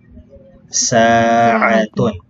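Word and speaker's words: ساعة: Una po ay sapagkat mayroon po siyang long vowel. Ang kasunod po ay ay na may fatha. A. At ang taol marbuta na may dhammatan ay tun. Okay? So, ang pagbigkas po sa kanya ay sa'atun.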